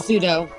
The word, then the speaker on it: pseudo: Pseudo.